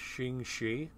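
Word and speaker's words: Ching Shih: a real historical figure I believe her name is pronounced shingi uh and she was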